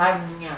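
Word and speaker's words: Ajna: Como que se pronuncia? Agnya.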